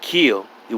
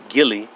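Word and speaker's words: gille: is no direct evidence of this the word kill it was noticed is only the modernized phonetic spelling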